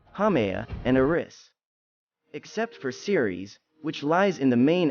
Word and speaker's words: Ceres: no longer considered to be a true planet series pronounced C or EES was once considered the largest